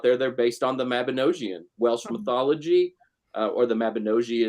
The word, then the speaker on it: Mabinogi: And for any pagans out there, they're based on the Mabinogion, Welsh mythology, or the Mabinogi, as Dave the Bard just told me is the correct pronunciation.